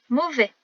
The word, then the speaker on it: mauvais: Mauvais. Le son O s'écrit AU, le son E s'écrit AI et on n'oublie pas le S muet de la fin. On s'en souvient grâce au féminin mauvaise.